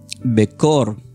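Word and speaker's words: בכור: La palabra primogénito del hebreo se escribe como becor. Es baga e k de kilo. H o r. Becor.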